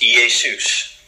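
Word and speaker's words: Ἰησοῦς: Well, the name Joshua in Greek is pronounced Iesus.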